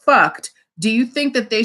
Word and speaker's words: Fuct: Do you think that this streetwear line spelled Fuct and pronounced fucked, do you think that they should be allowed to get a trademark?